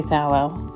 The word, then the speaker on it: phthalo: I've heard it pronounced phthalo as well. I don't know. I usually say phthalo. The PH is silent. I know that much.